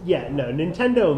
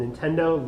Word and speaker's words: Nintendo: Nintendo might have dropped a bombshell, and that bombshell might have been made of cardboard.